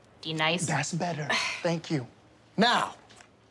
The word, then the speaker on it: Denise: Do you mean Denise? Son of a bitch! You say your name right now. Denise? Say it right. Denise. Correctly. Denise. Right. Denise. Right. D-Nice.